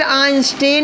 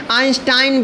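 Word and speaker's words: Einstein: योगदान है वह है अल्बर्ट आइंस्टीन या फिर जिन्हें आइंस्टाइन भी कहा जाता है क्योंकि यह विदेशी नाम है इसका उच्चारण अलग-अलग लोग अलग-अलग तरीके से करते हैं तो यह हो गया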